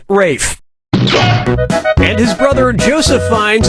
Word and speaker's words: Ralph: is yep Ray finds first name is spelled like Ralph but pronounced Rafe and his brother Joseph